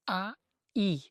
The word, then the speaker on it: Ai: A cidade é soletrada a i, mas é pronunciada ai.